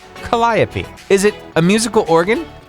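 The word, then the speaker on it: calliope: And for those of you trying to look it up on Google, you spell it C A L L I O P E. Colliopy.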